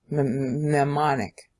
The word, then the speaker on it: mnemonic: It's a mnemonic. Mnemonic. That's a better pronunciation.